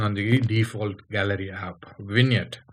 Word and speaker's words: vignette: the default gallery app vignette that's what that's how it is pronounced okay uh g is silent okay so win yet okay it is a